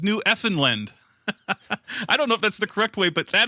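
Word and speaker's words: Newfoundland: The correct way to say the name of the island is New Effin."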